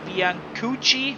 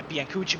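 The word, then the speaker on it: Bianucchi: This isn't over because Andrea Bianuchi Yeah. Yeah, Biancuchi, my Italian is a bit rusty, but Bianuchi is the right pronunciation.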